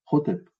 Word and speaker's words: Hotep: Dans notre vocalisation, nous, on va dire H. H. Hotep.